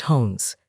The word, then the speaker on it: Jones: He got to vicariously know the people he knew, see pictures of Jones the dog as a puppy, pronounced Hones, short for Koomas, view internet pictures.